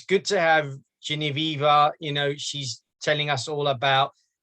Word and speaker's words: Genevieve: I think my audience deserve to know, and I think it's going to make a great interview to get Geneva. Is that how you pronounce it? Genevieve.